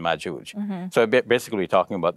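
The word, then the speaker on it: مأجوج: and magoog whereas in in arabic it's the soft g like in george so it's ya and majooj so basically we're talking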